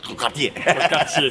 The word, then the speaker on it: quartier: Yeah, that's like quartier. It sounds like Cartier.